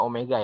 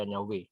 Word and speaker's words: Omega: radian per detik eh dibacanya Omega ya Jangan dibaca nyawe kemudian percepatan dengan Alfa